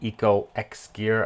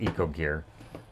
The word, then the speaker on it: EcoXgear: diagnosis portion of the Eco X gear I I think it's just Eco gear is probably the way it's pronounced and this is the